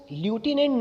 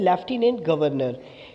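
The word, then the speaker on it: Lieutenant Governor: Guys ये थोड़ा सा कंफ्यूजिंग शब्द है बिकॉज इसको इंग्लिश में लिखा तो जाता है ल्यूटिनेंट गवर्नर, लेकिन इसकी जो प्रोनाउंसिएशन होती है उसको ल्यूटिनेंट न पढ़ के इसको बोला जाता है लेफ्टिनेंट गवर्नर।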